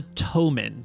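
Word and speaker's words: Ptomin: They are the Tomen, spelled P-T-O-M-I-N or E-N. The P is silent like in pterodactyl.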